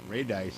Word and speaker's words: Radice: Ray dice yeah well how you pronounce it r-a-d-i-c-e Ray dice I would say raid eyes too yeah I would say that was Ray dice yeah sorry did not chart